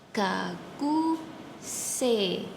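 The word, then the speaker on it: 学生: Gaku se. Sedangkan pada tulisannya itu kan gak ku sei, e, dan i. Di Jepang kalau huruf e bertemu huruf I, dia akan menjadi bunyi E panjang. Jadi bukan gakusei tapi gakusi.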